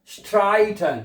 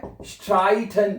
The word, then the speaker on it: streiten: wir streiten nie। अब यहां पे देखिए, यहां पे ई आई इकट्ठा है ना, इसको हमने आई प्रोनाउंस किया है। क्या पढ़ा है? आई पढ़ा है हमने इसको है।